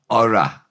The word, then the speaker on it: ora: Ora, best. It's a contraction of gorai, O-R-A, like Rita Ora, but ora.